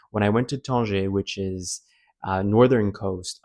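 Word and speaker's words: Tanger: So, I'm just going to pronounce it the French way to keep it simple and easy for me. Ton. When I went to Ton, which is uh northern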